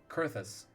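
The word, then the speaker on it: Coerthas: dissuade the Empire from trespassing on Curtis sewing kurthus that's how it's pronounced I'm glad am I that you have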